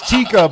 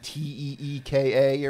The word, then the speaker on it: Tikka: her name's Tikka, but it's spelt like Tikka Masala. but All right. the fact that none of us questioned it. Yeah. Max Landis. Wow. Sorry. I thought it was like Teeka or something.